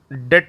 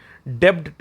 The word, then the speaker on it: debt: DEBT को डेट ही पढ़ते हैं, ठीक है, डेब्ट नहीं पढ़ते हैं, डेट पढ़ते हैं, ठीक है। बी साइलेंट होता है, तो इसलिए यहाँ पर डेट रिपोर्ट लिखा हुआ है।